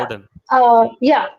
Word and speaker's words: modern: yeah, Modern. modern was there, right? So there also the pronunciation of R came first and then you pronounced N. It's supposed to be reversed.